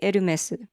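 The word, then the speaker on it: Hermès: Because in Japan we say Eru mesu. Eru mesu. Eru mesu. But the French pronunciation is closer to Air-mess with the H silent, I think.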